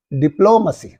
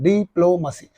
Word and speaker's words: diplomacy: and here is no diplomacy okay this is not the right one deep low mercy so the stress must be on the second syllable diplomacy diploma diplomacy diploma so